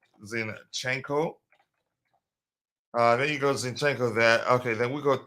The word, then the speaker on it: Zinchenko: zenchenko here I hope I don't spell his name wrong um zinenko uh there you go zinchenko there okay then we got two sixes uh